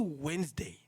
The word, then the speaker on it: Wednesday: then it came to Wednesday. I had a big problem because I pronounce it Wednesday and expect to write it Wednesday, meaning WEN, whatever happens next. So, WED.